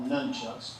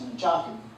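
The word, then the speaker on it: nunchaku: me how to use what most people call nunchucks. They're correct pronunciation is Nchaku.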